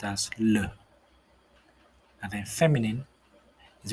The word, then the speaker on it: le: you have um for masculine the would be pronounced as le and then feminine is pronounced as la and